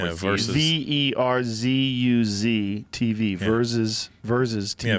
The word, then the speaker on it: Verzuz: Yeah, well, Swiss Beats started that, the Versus thing.